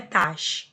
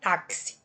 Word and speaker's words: táxi: O X eu pronuncio com som de KS. A letra X está representando dois fonemas. Não é tax, é táxi, né?